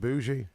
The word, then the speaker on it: bougie: You said it's some kind of, what's the word, bougie?